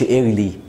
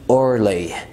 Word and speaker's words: early: اوكي، قول ايرث، ما تقولش ايرلي، قول early.